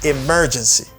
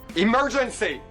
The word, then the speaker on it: emergency: And another word that people have trouble pronouncing is emergency. Emergency. Okay. But it's stresses on the second syllable you say emer say emergency.